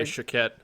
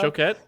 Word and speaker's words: Choquette: Choquette, and I said it right this time. I finally You learned how to pronounce it properly after all these years.